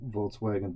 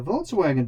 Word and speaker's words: Volkswagen: Beetles before, and the Volkswagen Beetle has a very interesting and kind of crazy history. So the name Volkswagen, or Volkswagen, I guess is how it would be pronounced in German.